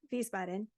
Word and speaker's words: Wiesbaden: It was collected at Wiesbaden, Germany, and it's spelled W-I, but the W in German is pronounced V, so Wiesbaden.